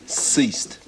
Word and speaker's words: ceased: Not bad, but it's a soft C. Ceased.